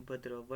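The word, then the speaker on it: Bhaderwah: चलते हैं यहीं पे एक नेक्स्ट की तरफ, जिसको हम कहते हैं बदरवा, BADRWAH, भद्रवा। What ever spelling क्या है मैं बोल रहा हूँ, आप वैसे लिखें, ठीक है।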